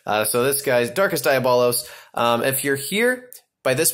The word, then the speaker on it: Diabolos: And that says Diabolos, not Diablos. So everybody out there pronounces it wrong, and it drives me bonkers, actually.